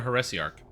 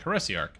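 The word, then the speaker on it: heresiarch: I'm not sure but it is a harassi Arc that's how you pronounce it I threw it into Google and it was like harassy Arc I'm like oh sounds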